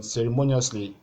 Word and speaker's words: ceremoniously: one here then ceremoniously ceremoniously is ending in ous it has the same rule as this one like we discussed in the class so but there's a suffix here ly it doesn't affect the placement of the stress cable so just look for the one that is before the last the penultimate cable so we have ceremonious